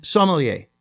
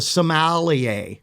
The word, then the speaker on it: sommelier: And sommelier. The sommelier. Oh. First syllable is the sommelier. yeah, it's the accent.